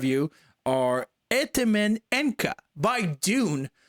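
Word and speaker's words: Dvne: Or Itimin Enka by Dune, which is pronounced D-V-N-E. So Dune with a V because it's more true, but it's not a black metal band.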